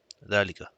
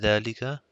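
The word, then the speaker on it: ذلك: And hana dhalika are pronounced as hada with an alif. So it's hada and dhalika, but are written without the alif.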